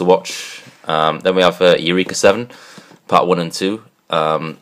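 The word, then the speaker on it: Eureka Seven: um then we have Eureka 7 part one and two um or era 7 however you want to pronounce it I pronounce it Eureka 7 uh these are the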